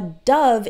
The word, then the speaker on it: dove: pronounce a little differently we pronounce it dov with an a sound so go into the